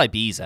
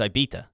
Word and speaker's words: Ibiza: i said lohan yeah what do you say ibiza ibisa it's not ibiza anyway no it's ibita what's the [ __